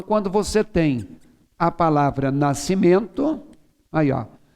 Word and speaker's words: nascimento: você tem a palavra nascimento maior você não fala nacsimento se você tirar aquele é se escreve nascimento com você o som continua o mesmo então ssrr xc e